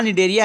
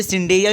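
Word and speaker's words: Cnidaria: एंड वहाँ पे भी लिखा निडेरिया है लेकिन उसमें भी साला सी साइलेंट है, तो आप उसे सिंडेरिया भी पढ़ सकते हैं, निडेरिया भी पढ़ सकते हैं।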